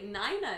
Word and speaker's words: Nina: tried to pronounce her name nina people actually nina is apparently a legitimate pronunciation of my name oh yeah okay i'm